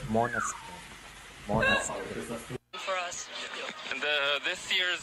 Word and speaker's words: Måneskin: I always pronounce it wrong. I always said Måneskin. It's Måneskin.